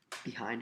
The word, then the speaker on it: behind: Behind has two syllables, and we can separate those two syllables, and we try to figure out which syllable is accented, which syllable is said with a little more force than the other one. And if you look closely, it's the second syllable. It's the hind, because we say behind.